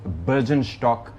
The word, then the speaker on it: Bürgenstock: जगह का that is अगर सही प्रोनाउंसिएशन के हिसाब से जाएं तो that is बर्जन स्टॉक resort.